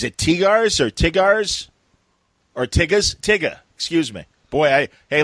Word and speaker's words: Tyga: It was is it Tigars or Tigars or Tiggas? Tigga, excuse me. Boy, hey, ladies and gentlemen, how you doing? Welcome to Middle Age. What's his name? I guess it's Tigga. I believe it's pronounced Kanye. It's Tyga.